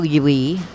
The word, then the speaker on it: Ui: we saw tonight was Arturo Yui Julie they're pronouncing it Yui by Bertolt Brecht and